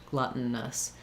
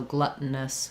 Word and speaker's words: gluttonous: The N needs to be a full syllable. So this vowel comes out and is a little bit of a schwa, or just glutton. I'm going very quickly, stopping that T and going right to the N, gluttonous.